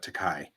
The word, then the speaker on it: Takei: Takai means expensive in Japanese, Yes, I know. He also thanks people for saying right? He's like, mispronouncing it. yes, I am expensive. Yes, that's why I will forever say Takai.